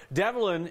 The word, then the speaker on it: Devlin: Devlin is how the school pronounces it, but maybe there's another right answer.